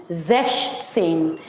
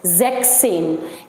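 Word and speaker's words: sechzehn: सो नाउ the pronunciation, the correct pronunciation is ज़ेश्टसेन। बट मैंने कई लोगों को ये बोलते हुए सुना है कि बच्चे इनको जो कैंडिडेट्स हैं, स्टूडेंट्स हैं, वो ऐसे प्रोनाउंस करते हैं ज़ेक्सेन। ये ज़ेक नहीं है, इट इज़ नॉट ज़ेक, ये नहीं है वो, ठीक है, दिस इज ज़ेश्टसेन।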